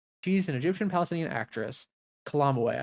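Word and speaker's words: Calamawy: Kalamoi, I think, is how it's pronounced. Period. She ate maybe Kamoi. She did.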